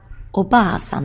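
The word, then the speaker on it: おばあさん: Next we have oba-san, that would be someone else's granny. Oba-san, she's got a little drinking problem, so she's often looking for a bar. Oba-san, oba-san.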